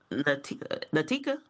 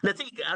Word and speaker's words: Latika: give um the Oakland is it Dr. Natika? Is it? Is that how I say it right? Okay. All right. We give you $10,000. Latika. Latica. Okay. I want to make sure I'm saying your name right.